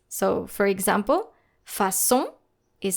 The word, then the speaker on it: façon: No matter the vowel following the letter C with a cédille, you will need to pronounce it just like the letter S. So, for example, façon is spelled F-A-C cédille O-N.